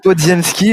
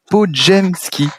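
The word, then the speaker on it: Podziemski: ma gueule bah ouais et ça se dit et ça sécrit podemski il faut dire podjemski voilà maintenant vous savez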